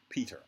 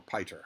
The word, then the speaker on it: Piter: Although, here in this chapter, we meet Baron Harkonnen's mentat, Peter, or Piter, however you want to pronounce it. I'm going to call it Peter.